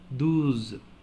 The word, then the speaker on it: douze: Z, you know, D plus O plus U, do, douze.